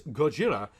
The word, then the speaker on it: Gojira: the best was undeniably Gojira and I'm using the Japanese pronunciation here not to be pretentious but because the Japanese Gojira and the American release